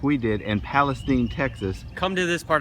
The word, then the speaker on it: Palestine: place we're here in Palestine Texas does she Palestine not Palestine and if you say it wrong they know you're not from around there that found a restaurant